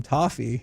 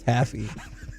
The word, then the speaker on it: toffee: How do you pronounce it? Toffee. Taffy is a different thing.